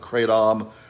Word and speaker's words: kratom: withdrawals and that's called kratom some people pronounce it cray Tom there's been a lot